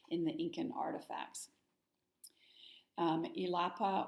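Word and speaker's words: Illapa: the Incan artifacts um elapa or yapa would be pronounced probably of Thunder God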